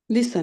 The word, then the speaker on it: listen: দেখুন ইংলিশে LISTEN উচ্চারণ কি করেন? লিসেন। লিসেন।